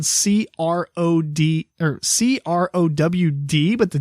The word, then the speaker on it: CrowD Games: Ironically enough, it's not ironically, but it's spelled CROD or CROWD, but the D is capital. So Crow D Games or Crowd Games? Crow D.